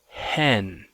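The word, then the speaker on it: ἕν: rough breather Mark instead of saying n it's pronounced hen hen and this is the number one um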